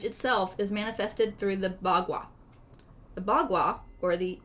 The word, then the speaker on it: Bagua: But it's spelled I think that's the way they pronounced it on the... B-A space G-U-A. Bagua.